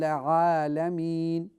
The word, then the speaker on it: العالمين: The first one, the letter Ain, you need to make sure that it is pronounced from the bottom of your throat. So let's say Rabbil Alameen. Rabbil Alameen. Very good. That's how I want you to pronounce every time Ain comes, okay?